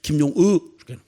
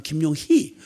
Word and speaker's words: 김용의: 용의 이렇게 발음 못해요. 전라도도 경상도도 이 발음을 못해요. 그냥 김용의 김용의 이러지. 그 아니면 세게 발음은 김용희. 김용희는 여자 이름이에요.